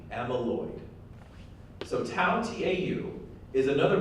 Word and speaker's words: amyloid: you were taking notes amyloid is spelled a and Y like a mean and then Lloyd LOI D amyloid so tau tau is